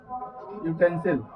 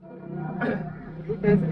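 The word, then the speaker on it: utensil: जब आप इस शब्द को पढ़ेंगे तो इसका उच्चारण आता है यूटेंसिल। यूटेंसिल, जहां पर आप देख पा रहे हैं कि ए का प्रयोग हुआ है। यूटेंसिल कहने से य का बोध हो रहा है, य कंसोनेंट साउंड में आ रहा है,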